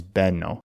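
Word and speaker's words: μπαίνω: Because that's how you make the hard B sound in modern Greek, not with the letter that looks like a B, the vita. It's with a combination of the letters that sound like M and P.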